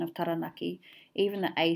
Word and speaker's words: Taranaki: And you can hear in English that mispronunciation of taranaki, even the A sound changes in English. Whereas very user-friendly in Māori, the A sound stays the same.